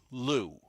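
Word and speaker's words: Liu: Lou.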